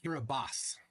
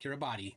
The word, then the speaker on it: Kiribati: tested like I confirmed the right way to pronounce this that's uh uh aranaku Island in kiribas kiribos they say not Kiribati hirabas there it is